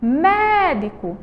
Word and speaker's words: médico: Médico, você vai ver que a sílaba tônica de médico é o mé, certo? Que é a sílaba que a gente vai demorar mais tempo chamando, ó.